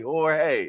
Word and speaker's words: Jorge: Oh, look, all I know is Jorge. Okay, that's so I said it correctly. Jorge. All right. All right, my guy. Yes, indeed. The J is silent. Like me. The J silent.